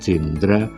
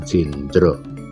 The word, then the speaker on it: Jendra: wayang ini saya beri nama Wayang Jendra atau pengucapan bahasa Jawanya wayang Jendro nah istilah wayang Jendra